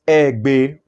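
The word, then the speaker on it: Eigbe: I will usually introduce myself in court as, with profound respect to this court, my name is Egbe. The Egbe is spelled E-I-G-B-E and the as in okay.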